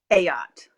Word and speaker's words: Ayotte: your last name ie a yacht a yacht Melissa family saying is it's not a boat it's a yacht okay how to pronounce